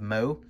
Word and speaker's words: Meaux: I think it's Meaux, actually. That's how you pronounce that. Adelaide of Meaux.